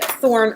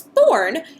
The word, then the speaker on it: thorn: So words that include this sound are this, that, these, those, gothi, other, and when you pronounce Thorn, you actually don't make a sound at all.